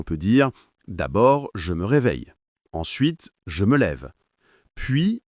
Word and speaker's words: réveille: Par exemple, je me réveille à 7h. Et attention à la prononciation. On dit se réveille mais on ne prononce pas le e à la fin.